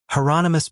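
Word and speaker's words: Hieronymus: "Heronomous Bosch," he yelled, actually pronouncing it correctly.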